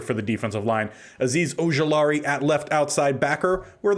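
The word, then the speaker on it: Okereke: middle for the linebackers Bobby Oar did go back to the original pronunciation if I remember reading that correctly used to be Bobby okariki that's what I knew from watching him when he was at Stanford but apparently he's changed it gone back to the traditional pronunciation and then Isaiah Simmons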